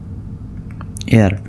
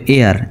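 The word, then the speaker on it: heir: এটার উচ্চারণটা এরকম হবে এয়ার উত্তরাধিকার the king left an এয়ার রাজা একজন উত্তরাধিকার রেখে গেলেন the king left an এয়ার এইচ ই আই আর উচ্চারণ হবে এয়ার এয়ার এইচ উচ্চারিত হবে না দা কিং লেফট অ্যান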